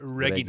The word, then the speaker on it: Regina: But in Latin, it would have been pronounced Regina.